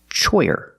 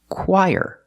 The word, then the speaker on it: choir: word is not pronounced choyer it's pronounced choir very different than how it looks so the CH makes the C sound like the letter K CK then we use